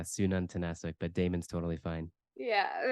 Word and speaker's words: Sununtnasuk: so it's Damon am I correct almost really good yeah Sunan tanasic but Damon's totally fine